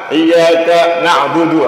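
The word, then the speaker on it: إِيَّاكَ نَعْبُدُ: di tapi hati-hati ya jangan sampai dua harakat bacanya satu harakat iyaka nak iyaka na'budu langsung Jangan sampai panjang iyaka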